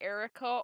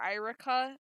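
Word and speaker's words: Eirika: must survive now you'll you'll hear me say erica or irika it can be pronounced both ways due to the spelling and since there's no actual voice over sound it's kind of hard to tell how some names are pronounced general seth franz write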